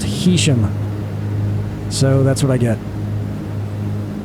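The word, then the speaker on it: Heysham: I went online and found a pronunciation guide where 2 different sites, they were saying that it's not Haysham, it's Haysham. And then someone who lived out there said it's actually pronounced Hesham.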